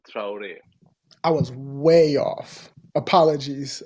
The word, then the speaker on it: Traore: the last name my friend how do you pronounce the last it's traure I was way off apologies apologies yeah it's